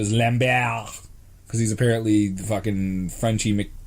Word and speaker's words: Lambert: now oh my god for years I pronounce the Christopher Lambert only to find out the lam bao because he's apparently [